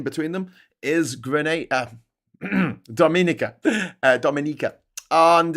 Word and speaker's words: Dominica: It's actually pronounced Dominica with the a with the emphasis on the second I.